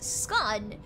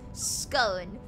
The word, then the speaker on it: scone: one of them because half of the UK says scun in half the UK says scone and I'm I've I've